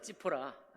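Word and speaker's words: ציפורה: 모세가 아내가 히브리어로 찌포라입니다. 찌포라. 제가 찌포라는 그 발음으로 하겠어요.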